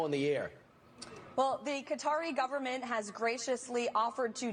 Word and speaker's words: Qatar: Uh, that's so I want to make sure that's Qatar um that you heard pronounced cutter on Fox and Friends.